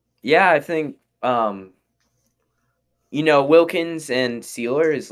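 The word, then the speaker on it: Sieler: All right, and then we've got this defensive line consisting of, it looks like, Raekwon Davis, Christian Wilkins, and is it Cedar? Sealer.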